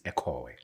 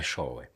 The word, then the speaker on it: Eshowe: The proper pronunciation is Ekowe. Ekowe. Yeah, but white people changed it to Showe.